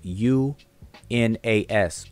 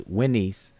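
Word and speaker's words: Wnis: Now, if you ever look up this king, a lot of times it'll be transcribed as U-N-A-S, Unas. So if you need to look up that particular king, although we're pronouncing it as Winnies, but the people spell it U-N-A-S, Unas. All right. But if you transliterate it, it would be W-N-I-S. So we kind of try to pronounce it true to the way it's spelled out. So Winnies.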